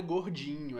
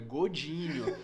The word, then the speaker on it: Godinho: que explicar a pessoa, não é gordinho, é Godinho. Aí a pessoa pergunta, mas é assim que se escreve mesmo? Eu falo, exatamente, do jeito que tá aí, Godinho. Assim, é gordinho, só que tu tira o R.